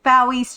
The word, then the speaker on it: Fowie: Today is our Cozy Sunday here at Fowie's channel. I'm Fowie. It rhymes with Wowie.